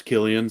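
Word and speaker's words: Cillian: that's me and Celine Murphy huh oh it's Killian so you don't even know it's just so that's uh how they pronounce it I love I love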